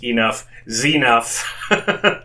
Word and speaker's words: Enuff Z'nuff: Pronounced, of course, Enuff Z'nuff for anyone who just looks at the band name.